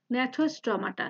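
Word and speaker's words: Gnathostomata: বা super class two যেটা ন্যাথোস্টোমাটা, যে উচ্চারণ হবে না এখানে ন্যাথোস্টোমাটা।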